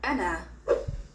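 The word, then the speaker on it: أنا: it the word for i in arabic is an an an an an an ana repeat after me ana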